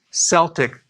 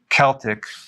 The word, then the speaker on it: Celtic: So I do not recommend consuming sea salt unless it's Celtic sea salt, or it could be pronounced Celtic.